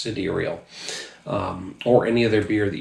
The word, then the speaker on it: Sidereal: Or any other beer from Sidereal, or yes, it's pronounced Sidereal. It looks like Sidereal, but I found when we visited, it's pronounced Sidereal.